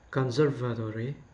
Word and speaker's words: conservatory: The example is conservatory. The stress is should be only placed on the conserve, like conserve I mean conservatory.